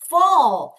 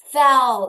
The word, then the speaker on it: fall: fall fall fall fall 자 f a l인데 a가에 발음이 나지만 여러분 a 하면 뭐예요 어 어 다시 어 발음이 나죠 얘들아 따라해야 돼 그래서 fell 이게 아니라 뭐예요? fall 다시 fall 떨어지다입니다.